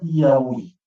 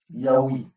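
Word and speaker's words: ꞽꜣwj: Il y a le yod, il y a le aleph, il y a le waouh, il y a le double yod, donc le Y. Et ça se prononcera Yaoui. Yaoui.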